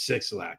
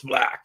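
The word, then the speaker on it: 6LACK: I'm like, is it 6 Lack or Black? I never really listened to him. And I'm like, it's 6 Lack. And they're like, no, it's Black.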